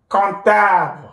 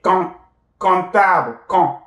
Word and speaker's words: comptable: Comptable, répétez, comptable, nasalize, the P will not be pronounced, comptable, comptable, comptable means accountant, right?